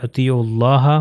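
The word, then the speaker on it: أطيعوا الله: وہ پروناؤنس نہیں ہوگا۔ اطیعوا میں اگر اطیعوا خالی پڑھا جاتا ہے تو اس کا واو پروناؤنس ہوتا ہے، مگر کیونکہ یہ مل رہا ہے آگے سے تو یہ اطیعوا اللہ ہو جائے گا، تو یہ واو، یہ الف اور یہ الف پروناؤنس نہیں ہوگا۔ اسی طرح وہ اطیعوا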